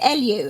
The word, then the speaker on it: Eliu: So first of all, can I just check, is it Eliu? Am I pronouncing that correctly? Correct. Eliu.